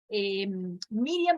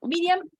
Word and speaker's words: Miriam: viene el nombre, pero son dos sílabas en hebreo, mir y yam. Bueno, Miriam, a ver si...